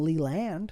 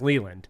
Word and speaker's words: Leland: it oh oh it's it's pronounced Leland Leland okay I thought you were telling me that he goes by Lee land no no no no